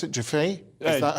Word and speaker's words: Giuffre: Giuffre? Is that how you pronounce that? Yeah, Virginia Giuffre.